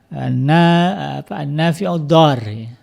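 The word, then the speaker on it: النافع الضار: Ad-Dar, makanya dibacanya kan disambung. An-Nafi'ud-Dar, yang memberikan manfaat dan yang memberikan mudarat, dipasangkan.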